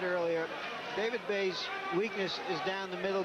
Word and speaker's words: Bey: will see on david bay's left arm a tattoo that says babe it says b-a-y the reason he says he has that he says people always mispronounce my name so i'm not going